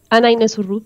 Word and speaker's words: Ana: yes of course uh my name is Anna Ana but Anna it's okay uh a lot of people have a couple of trouble with pronunciation and it's fine Anna regular Anna um I'm an MVP